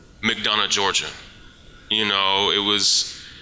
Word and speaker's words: McDonough: know where McDonough is not know how to pronounce it like McDonough because it's not really the way it looks in the spelling you would not know